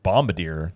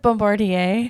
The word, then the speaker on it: Bombardier: And the issue you run into is the company is Bombardier that manufacture them. You said it wrong again. What is it? It's like Bombardier. Bombardier, whatever.